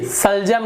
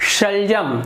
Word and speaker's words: शलजम: कुछ उदाहरण, शलजम, देखिए सलजम नहीं बोल रहा मैं, दांत जीभ को नीचे रखूंगा तो सलजम, तो ये गलत हो जा रहा है, शलजम ये सही उच्चारण है।